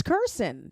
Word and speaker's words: Kirsten: No, it's Kirson, but everyone says Kirson.